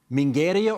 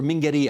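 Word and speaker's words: Mingheria: And I want to ask you about this fictitious island, Mingeria or Mingeria? How do you pronounce it? Both is okay.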